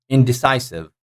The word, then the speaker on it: indecisive: syllable louder than others so like indecisive indecisive indecisive so CI the third syllable taking the stress indecisive identical identical identical